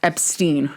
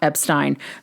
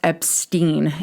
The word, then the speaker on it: Epstein: So Brian's last name is pronounced Epstein, not Epstein. publicly, as in the press, particularly in the US. Brian's last name was pronounced as Epstein due to understanding that to be the more common American pronunciation.